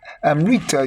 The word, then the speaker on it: Amrita: How do you pronounce it? Amrita. Yes, it's brought down as the feminine orgasm.